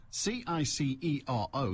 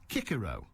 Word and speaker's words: Cicero: how's this for pedantry c-i-c-e-r-o cicero should be pronounced kikero it's been determined that roman latin pronounced c as hard not soft so there you are